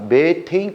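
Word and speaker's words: 메테인: 이게 절대로 갖지 않다고 생각하거든 같은 겁니다 메탄가스가 매테인 가스에요 같은 거야 그러면 c4h10이라고 해 볼게 우리들은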